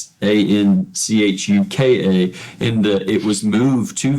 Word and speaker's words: Anchuca: And in this beautiful edifice, this historic mansion, it is, now correct me if I'm wrong, but it's Anchuka. Anchuka.